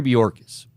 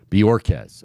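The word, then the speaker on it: Bojorquez: get to it Corey bjorkis is the Browns punter bjorkz I should say I don't want to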